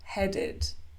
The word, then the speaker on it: headed: sound like head then the Ed ending is pronounced ID head headed add added decide decided the same thing happens